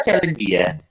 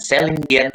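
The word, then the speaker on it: Céline Dion: Kalau bahasa Inggrisnya Celine Dion, karena dia orang Kanada, orang bahasanya bahasa Prancis, jadi bacanya bukan Celine Dion tapi Celine Dion.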